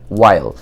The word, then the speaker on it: while: while, আপনি আবারও দেখেন এইচের উচ্চারণটা সাইলেন্ট হলো। ঠিক আগের আমরা যে বললাম যে হোয়াট, ওয়্যার, ওয়াই এই জাতীয় বিষয়গুলো যেরকম আমরা উচ্চারণ করলাম ঠিক একইভাবে এখানে হোয়াইল উচ্চারণ না হয়ে এটা হবে ওয়াইল।